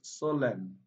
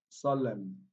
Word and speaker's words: solemn: this is naughty and solemn solemn letter n a is silent okay students should also